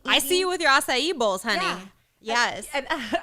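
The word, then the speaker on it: açaí: see you with your acai bowls honey yes and i always call it a kybos and my daughter goes mom that's not how you say it i'm like and it's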